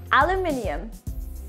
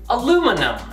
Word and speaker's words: aluminium: In British English, we say aluminium. How about in Canada? Aluminum.